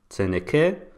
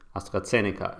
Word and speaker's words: AstraZeneca: And let's take AstraZeneca, for example, and here it sounds like that. AstraZeneca. Zeneke. AstraZeneca. AstraZeneca is a correct pronunciation.